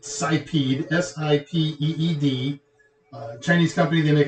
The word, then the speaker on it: Sipeed: It's no, the company is, I've never known how to pronounce this. I pronounce it Sipeed, S-I-P-E-E-D.